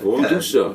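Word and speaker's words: Warmduscher: She kind of goes Warm Dusha, but it's a V rather than a W. Warm Dusha. Warm Dusha. Warm Dusha with the accent.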